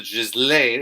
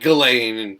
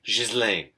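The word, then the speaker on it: Ghislaine: feds are taking extra precautions to prevent the just lane it's pronounced just lane by the way guys not galen it's french shiz lane jizz lane yes that is the way you're supposed to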